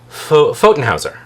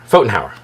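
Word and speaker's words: Pfotenhauer: And this is the Bon Sequiter B O N Seiter like nonsequiter but Bon uh tarot uh by uh Zephr Fotenhouser. Fotenhower um I'll spell it for you.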